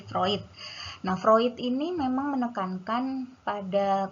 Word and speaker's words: Freud: Ya moslow dengan vroid jadi ini bacanya proyek ya bukan Freud tapi fruit fruit ini memang menekankan